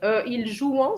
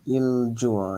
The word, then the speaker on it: il joue: Il joue, yeah. Il Yeah. joue. Remember the ENT of the present tense is silent. So it's just so the ENT. Oh, so it's just il joue.